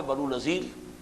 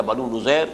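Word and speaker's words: بنو نضیر: بعد سن 4 میں بنو نذیر یا بنو نذیر، اس کے دونوں تلفظ ہیں، ان کی طرف سے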